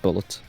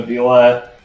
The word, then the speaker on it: Bulette: Never Derek says Bulette, it sounds like he's saying bullet.